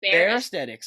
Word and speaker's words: Bear Aesthetics: Is that how you pronounce it right? Bear? Yeah, fair. Bear Aesthetics.